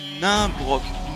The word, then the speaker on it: Nimbrok: Ça se prononce Nimbrok. Nain, comme un nain.